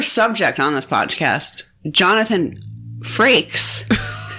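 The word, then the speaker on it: Frakes: on this podcast Jonathan fraks that's the first and only time we're ever going to say his name correctly I hope she didn't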